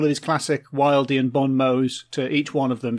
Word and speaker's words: bon mot: anecdote uh was that you very subtly uh let on that both uh james and i have been mispronouncing bon mo uh you've got a bomb probably fuming all the way that we've been calling it bob motz sorry i had like